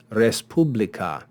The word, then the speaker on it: respublica: in between the vowels these are two consonants that would or could begin a word s and PE so according to our rule s and pay would be kept together and they would start the second syllable but because this is a compound word and res is a